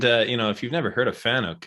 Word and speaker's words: Fanuc: And if you've never heard of Fanuc, it's FANUC is how you spell it.